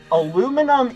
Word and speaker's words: aluminum: So, aluminum aluminum is the proper pronunciation.